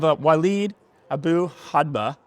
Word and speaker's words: Walid Abu-Hadba: And then we have Walid Abu-Hadba.